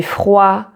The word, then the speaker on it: froid: So for example, you have il fait chaud, il fait froid, or j'ai chaud, j'ai froid, where the D is silent.